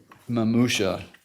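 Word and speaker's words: mamusia: What does the term mamusha mean? If I'm pronouncing that correctly?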